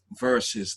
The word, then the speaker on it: Verzuz: crazy right so hence we have verses that is spelled v e r z u z i z see if you come from somewhere else let's pronounce it like that um yeah nope up